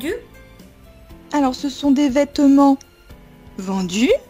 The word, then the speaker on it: vêtements: petit peu vite donc on ne va presque pas prononcer la deuxième syllabe vêtements vêtements comme une française très bien si tu